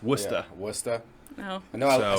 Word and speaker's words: Worcester: a lot of people want to call it warchester it's worcester no no i said land kisser wrong the